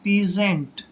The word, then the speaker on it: peasant: दोस्तों पी का उच्चारण पे करते हैं और EA को ई की मात्रा पढ़ते हैं, जब भी एस से पहले ए आता है तो एस का उच्चारण जय करते हैं और ए को ए की मात्रा पढ़ते हैं, एन का उच्चारण आधा न और टी को टे पढ़ना है, पीजेंट।